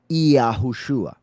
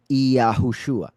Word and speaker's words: Yahushua: It was the letter Yud, which is like a letter I, at least the pronunciation of the I in Spanish, for instance, which is E.